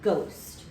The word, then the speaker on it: ghost: So when we see GH at the beginning of our word, we know that the H is going to be silent. We don't hear that H sound. The H is going to be marked silent. And then we mark the OST combination. And we have to make sure that we mark our O as a long vowel O, because in the word ghost, we hear our long vowel sound.